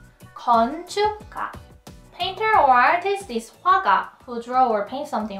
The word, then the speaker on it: 화가: Painter or artist is 화가, who draw or paint something, right? You have to move your lips from O to A very quickly when you pronounce the wa sound. Wa, wa, 화가, 화가.